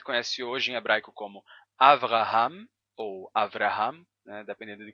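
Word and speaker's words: אַבְרָהָם: hoje em hebraico como avraham ou avraham né dependendo de como você use a pronúncia do r r ou R Abraham Abraham antes era Abraham com som de b não V Abraham ou o nome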